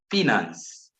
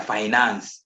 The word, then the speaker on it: finance: one is secretary for finance i know some people say they are finance ah that's not the correct english pronunciation we say finance the secretary for finance